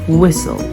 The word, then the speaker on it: whistle: W for example what when at y and whistle and sometimes it's not pronounced when agents at the start of a